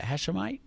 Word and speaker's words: Hashemite: Hashemite.